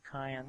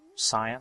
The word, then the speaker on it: cyan: Then two cayenne there. Cyan, I'm sorry.